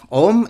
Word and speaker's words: ॐ: This Om is basically the the total sum of A U M, or you can say A, U, and not ma. It is mm.